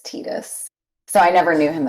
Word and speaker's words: Tidus: I only know him as I played FF10 later in life, and Halcyon got me early, and he was like, "It's Tidus," so I never knew him as Tidus.